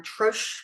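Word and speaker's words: troche: you know atoche or trro sometimes it's pronounced as that t r o c h e and it's um a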